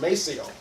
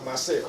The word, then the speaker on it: Maceo: sons after him, and it became pronounced Maceo, but it was after Maceo.